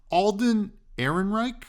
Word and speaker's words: Alden Ehrenreich: Alden Ehrenreich, I think I'm pronouncing that right.